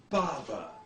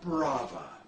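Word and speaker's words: Bava: seems that the directors last name is properly pronounced bhava not Brava my dumbass producers insist we'll going on American movie classics pronounced it Brava well who are you going to believe me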